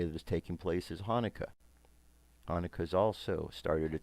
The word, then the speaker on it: Hanukkah: spelled hanukkah variations the hebrew word is actually pronounced with a guttural salad Hanukkah not Jonica okay now in the 2nd century BC the